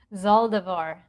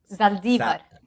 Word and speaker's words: Zaldivar: I am from Puerto Rico. Spanish is my first language, so I would have pronounced it Zaldiva. Saliva. Yes. Yeah. It's a Spanish last name. It's from Basque from Spain.